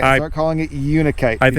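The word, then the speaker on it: unakite: I watched a video and they pronounce it with a a long u sound. You are probably correct. And I should probably stop calling it unite and start calling it unikite.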